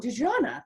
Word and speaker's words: Dexonna: No, I think I had one person pronounce it correctly, and that was because she was actually French.